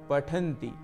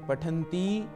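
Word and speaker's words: पठन्ति: छात्रा पठति छात्रा पठनती आप यह देख ही रहे होंगे कि उच्चारण के समय क्रिया के अंतिम ई को मैं ह्रस्व उच्चारण कर रहा हूं अर्थात छोटा उच्चारण जहां पर समय एक मात्रिक है आप इसको उच्चारण यदि नहीं करेंगे और दीर्घ पठनती ऐसा उच्चारण करेंगे तो इसका अर्थ भी बदल जाएगा और काल भी बदल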